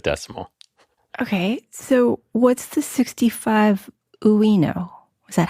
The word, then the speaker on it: 65uino: Okay, so what's the 65 Uino?